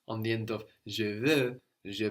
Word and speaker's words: veux: Je veux. And I can. Je peux. Je peux. Good. And we said that both of these are spelled E-U-X, no? V-E-U-X or P-E-U-X. And that X is silent, no?